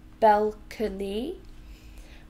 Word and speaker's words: balcony: so just quickly so balcony is and down and Belle Kearney three syllables balcony we stress the first one balcony balcony so does